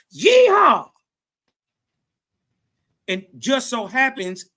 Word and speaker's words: Yeehaw: You could say yeehaw, like a cowboy.